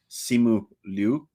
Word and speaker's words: Simu Liu: Not necessary, and I think his name is pronounced Simu Liu.